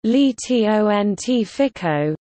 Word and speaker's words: liceo scientifico: why so scientific Oh Italian pronunciation leety Ont FICO literally scientific Lyceum is a type of Secondary